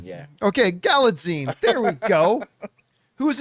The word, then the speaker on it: Galitzine: Galitzine? Jonathan is the grammar right here, the grammar man. I think it's Galitzine, like magazine. Galaxine, yeah. Okay, Galitzine.